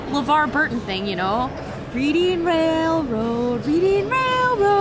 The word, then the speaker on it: Reading: And like the Reading Railroad isn't pronounced Reading Railroad. It's the Reading Railroad. Wait. It's not Reading Railroad? I thought it was like a LeVar Burton thing, you know? Reading Railroad, Reading Railroad.